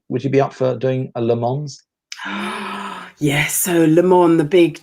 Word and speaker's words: Le Mans: it le man or le mans you don't pronounce the s at the end don't pronounce yes no